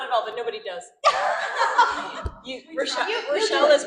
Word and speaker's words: Rachelle: Rachelle is right.